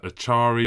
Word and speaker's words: Acharya: Acharya is in. That's the official correct pronunciation of Acharya from now on.